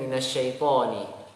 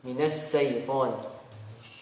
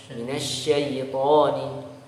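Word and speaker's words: مِنَ الشَّيْطَانِ: Kemudian minasyaitoni. Yang pertama kesalahannya yang sering diucapkan shinnya dibaca dengan sin, minas syaiton. A'udzu billahi minas syaiton. Ya. Karena dia huruf shin harus dibedakan dengan huruf sin.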